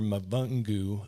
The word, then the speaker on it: Mavungu: So then we had, and I apologize, I'm just going to say Mr. Mavungu. I'm going to mess up your name. That's actually correct.